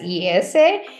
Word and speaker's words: IESE: and anushri comes from easa iese pronounced as Esa and I'd let anushi